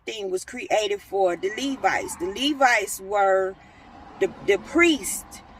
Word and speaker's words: Levite: Yeah, you had to be a Levite.